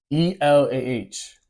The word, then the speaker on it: Elah: And for those who know about Aramaic and know how they pronounce, how they say God in Aramaic, it's E-L-A-H. Elah.